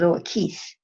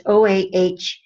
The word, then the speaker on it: Oakes: It's actually, most people pronounce it Oakes. I've probably been pronouncing it wrong all this time. I don't know. Oakes is what I always said. It's Oahques.